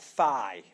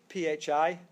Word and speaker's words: phi: How do you pronounce that letter? Pardon? So, yes, on my tradition, I would call that phi. P-H-I, phi.